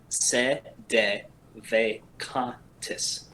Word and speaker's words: Sedevacantist: I'm going to slow it down for you. Okay. Sedevacantist. Those aren't words. Those are just syllables. Because it's Latin.